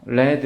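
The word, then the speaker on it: read: 읽었다는 어떻게 돼요 자 표기는 똑같은데 발음은 어떻게 해요 레드 이렇게 하죠 그죠 니드가 아니라 근데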